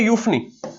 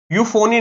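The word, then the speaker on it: euphony: तो अब हमें नेक्स्ट जो वर्ड करना है, यूफनी। यूफोनी नहीं, यूफनी कहते हैं, इसकी भी प्रोनाउंसिएशन ध्यान रखना, ठीक है।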